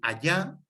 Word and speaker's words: allá: El allá, sin H y con doble L y acento en la A, es lo mismo que el ahí y el allí, indica lugar.